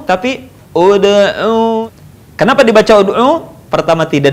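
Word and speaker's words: ادع: Contoh, ud'u. Sekali lagi perhatikan, dibaca tidak ad'u, tidak dibaca id'u, tapi ud'u.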